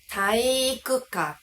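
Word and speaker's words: 体育館: Rất nhiều người nói "taiikukan." Tất nhiên, cách phát âm đúng là "taiikukan."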